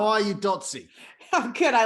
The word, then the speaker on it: Dotsie: let's start first of all what's your name datsy okay how are you dotsy oh good i like the way you say